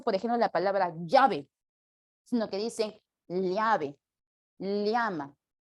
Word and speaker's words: llave: dicen leve llama Llévate esto es como una l con una y pequeñita y ligera que es el sonido característico y correcto de la doble l pero aquí en Lima